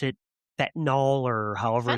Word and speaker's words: fentanyl: Overdosing him on, how do they pronounce it? Fentanyl or however. Fentanyl, you said it right.